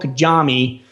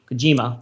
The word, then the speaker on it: Kojima: the departure of hideo kajami from konami kojima that was the worst pronunciation hideo kojima hideo kojima hideo kojima you can just say this one long word that's how everybody says yeah that was that was